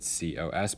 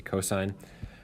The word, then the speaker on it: cosine: the cosine which is abbreviated cos but again don't say Co just say cosine the cosine compares the